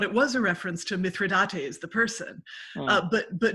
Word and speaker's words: mithridate: the person but but no mithridate was an antidote which the king is which that king is said to have come up with so it rhymes with state yeah i missed that after i said it and then i went oh no that's not myth yeah ah it was